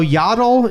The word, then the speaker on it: Yaddle: a dog yeah so yaddle is yaddle yaddle yaddle is yaddle's cousin from Sand Mountain yeah I mean I guess it is spelled like paddle yaddle paddle and I'm not trying